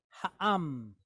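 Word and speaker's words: הָעָם: So we have a hey, and it's pointed kamatz, ha. Then we have ayin, silent letter, but it's pointed kamatz with a mem sofit, am, am. So ha'am, ha'am.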